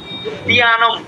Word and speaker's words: उद्यानम्: উদ্যানম, এই যে জফলার উচ্চারণটা আবার কি করুন, উদ্যানম।